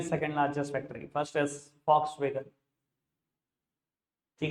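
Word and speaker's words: Volkswagen: ठीक है जी सर, लिखते हैं वॉक्सवैगन, बोलते नहीं है। एड सुन लेना, चाहे कान लगा के सुन लेना, वो बोलते हैं फॉक्सवैगन। जर्मन कंपनी है, जर्मन में वी को एफ प्रोनाउंस करते हैं, फॉक्सवैगन।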